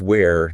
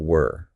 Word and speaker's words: where: And where is where, not were. Easy to mix those up.